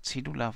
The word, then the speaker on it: cedula: Aber ich sage Cedula, weil wird so ausgesprochen.